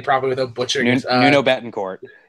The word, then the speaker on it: Nuno Bettencourt: Sean, I can't even pronounce his name properly without butchering it. Nuno Bettencourt. Nuno Bettencourt.